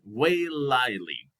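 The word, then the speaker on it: Waiʻaleʻale: it is mount um way lightly i think that's the way it is pronounced it's some it's a hawaiian term so it is located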